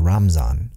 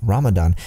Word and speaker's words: Ramadan: written by shahib Daniel the article details how historically the Arabic word for Islam's sacred month Ramadan came to be pronounced ramazan in the subcontinent and now recently many South Asian Muslims are reverting to the Ramadan pronunciation due to as the